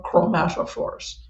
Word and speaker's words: chromatophore: I wrote it down so I would remember how to pronounce it, but it's chroma chromatophore.